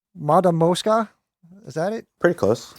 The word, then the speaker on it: Matamoska: me see if I could say this right Mada Mosca is that it pretty close pretty close okay oh it's supposed to be pronounced map that Mosca mata MOS ka okay yeah I just said it like a